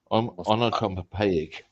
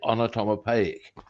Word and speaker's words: onomatopoeic: Onomatopoeic. Oh my god, I almost got that one right. Vividness. It is also Norma Snockers. So there we go. Onomatopoeic. That's how you say it. Onomatopoeic.